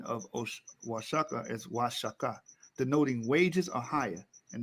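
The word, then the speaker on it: Oaxaca: in the spanish kids is pronounced the correct pronunciation of osh washaka is washaka denoting wages are higher and there's the hebrew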